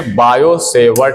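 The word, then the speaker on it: Biot–Savart: तो हम लोग अब पढ़ेंगे बायो-सेवर्ट का नियम। इसका नियम है बायो-सेवर्ट का नियम। क्या है नियम, देखिए, बायो-सेवर्ट का नियम। इसको क्या लिखेंगे आप, तो बायो, इसमें टी साइलेंट रहता है, सेवर्ट, बायो-सेवर्ट लॉ।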